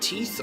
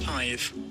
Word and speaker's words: tithe: pronounce this word man is it teeth or tie it is tithe it's tithe thanks Google tithe thereby